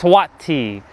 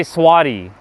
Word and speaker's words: Swati: Cuz like saying Swati is a little bit more I have to put more emphasis Swati. But it's but I say Swatti because it just because